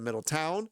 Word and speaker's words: Middletown: grammar if you say mispronounce something like Middleton instead of Middletown Middleton I'm going to